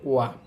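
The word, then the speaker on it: は: পর এটার সাথে বসবে ওয়া। এটা হচ্ছে হা, কিন্তু পার্টিকেল হিসাবে বসলে তখন এটার উচ্চারণ হয় ওয়া, এখানে পার্টিকেল হিসাবে বসছে।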